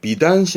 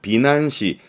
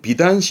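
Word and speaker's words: 美男子: 그리고 이 미남자 발음을 비단시 하기도 합니다만 간혹은 비난시, 음으로는 난 가기도 합니다. 비난시. 주로는 비단시 하는데요.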